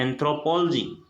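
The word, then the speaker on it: anthropology: लेकिन इसको बिल्कुल आप लोग एंथ्रोपोलॉजी ना पढ़िए। ये जो वर्ड है अपना, इसको एंथ्रोपोलॉजी मत पढ़ना। इसका जो सही प्रोनाउंसिएशन है वो होता है एंथ्रोपोलॉजी।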